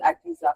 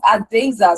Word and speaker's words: Adeza: I know that Fortune said Adisa. Fortune, you need to learn to pronounce that right. It is Adeza Suleiman, and he is currently based in Alberta, Canada.